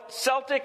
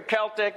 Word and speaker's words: Celtic: Yeah, Celtic or Celtic, yeah. Sometimes you listen to the music. Right. They got their own type of music. Right. And then the word... But you can pronounce it either way.